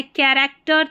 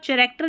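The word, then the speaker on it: character: ठीक है, chaos, chaos, फिर है कैरेक्टर, चैरेक्टर नहीं कैरेक्टर, ये है कज्म, ठीक है, कज्म, केमिकल, टेक्निकल, इको, फिर है क्रिसमस, क्रॉनिक।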